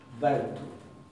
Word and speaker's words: vertu: No se va a pronunciar rt, sino se va a pronunciar earth. Vertu, vertu. Un poco como se pronuncia actualmente en noruego y como se dice la R en inglés.